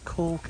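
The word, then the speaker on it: Calke: Oh, how do you spell it, Mrs B? C-A-L-K-E. C-A-L-K-E. Cork Abbey.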